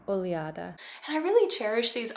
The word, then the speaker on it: Oleada: just a quick note unfortunately I do mispronounce the brand in this video it's closer to oada and I really cherish